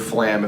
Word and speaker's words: flam: I think of it as literally like the word flam if it had two syllables, flam.